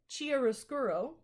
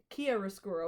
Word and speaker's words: chiaroscuro: the second is called chiaroscuro chiaroscuro it's with a k' sound it's Italian and then the third